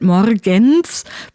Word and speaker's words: Morgens: But still, I think I sometimes produce a D sound between the N and the S in Morgens as well. Just because that's what naturally happens when you go from N to S.